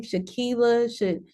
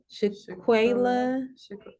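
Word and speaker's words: Shanquella: Shaquila, Shaquila.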